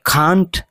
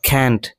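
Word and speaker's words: can't: এটিকে নেগেটিভে করলে এর উচ্চারণ কান্ট বা ক্যান্ট দুটোই পসিবল।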